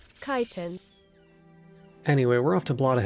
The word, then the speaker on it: chitin: Google has chitin as the official pronunciation for British and American. Chitin. Chitin.